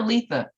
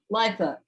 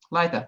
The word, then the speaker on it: Lytha: Litha or Letha? How do you say your name? No, Lytha. Litha.